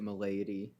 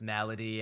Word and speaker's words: malady: I think the first time I came across that word, I pronounced it Milady. yeah, and then as I looked it up, I realized it was pronounced malady, and it is a